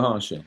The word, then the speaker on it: Maharshi: You were like, "It's a Mara Harashi." I don't even know how to say it right, Ramana but Maharshi.